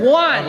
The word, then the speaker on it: one: from the very beginning the word one ought to start with a W sounding that don't have one don't have a w and one why there's a w and why there ain't no W what the beginning of one there's a e you don't need there ain't no W in one then you look at